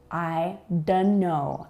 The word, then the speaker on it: I don't know: I don't know. I don't know. I don't know. Notice that we do not say the T.